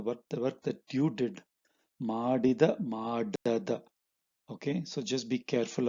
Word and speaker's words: ಮಾಡದ: So ನೀನು ಮಾಡದ. So you see this ಮಾಡಿದ and ಮಾಡದ, they sound very similar, right? So that's why you have to be very careful when pronouncing it. Okay, so Ninu Madada Kelasa means the work that you did not